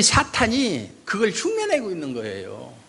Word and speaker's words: 사탄: 사탕이 아니라 사탄. 네, 사탄. 그 다음에 헬라어로는 마귀, 디아볼로스. 사탄은 히브리어 발음 그대로 사탄이에요. 마귀는 디아볼로스입니다.